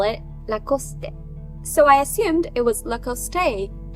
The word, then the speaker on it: Lacoste: French so that got me wondering "is it Lacoste in English too?" I googled it and yes it's Lacoste in English and about this one I literally